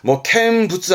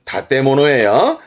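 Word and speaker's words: 建物: 한국어 건물이다 보니까 캔부츠 하기 쉽습니다만 발음은 다테모노예요.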